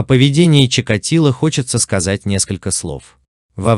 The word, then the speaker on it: Чикатило: Скажите, это украинская? Что это? Она украински произносит. По украинской мове. Чикатило.